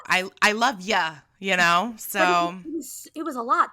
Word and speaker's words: ye: There was a lot of, I don't know, is it yeah? Y-E. I don't think it was yay. I think it's like ya.